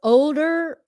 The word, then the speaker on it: older: pronounce all the letters there's an L in there for older oh older older and